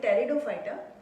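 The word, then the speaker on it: Pteridophyta: Piece में silent रहेगा. We called it टेरिडोफाइटा.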